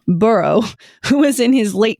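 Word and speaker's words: Burgh: sir Edward burrow spelled b r g but pronounced burrow who was in his late 20s and probably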